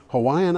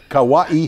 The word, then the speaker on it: Hawaii: the map actually it's Hawaii Hawaii because the W is pronounced like a V stories of kawaii are